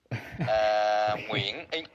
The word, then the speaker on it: Nguyễn: My full name is Nguyễn. Nguyễn is in my culture is a little bit different.